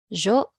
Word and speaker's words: yo: Jo as in yes.